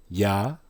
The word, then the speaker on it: Yahuwah: Look at the first one. Yahuwah. Yahuwah. Just like the first one, 3 syllables.